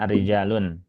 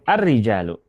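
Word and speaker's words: الرجالُ: Jadi bukan arijalun. Cukup arrijalu.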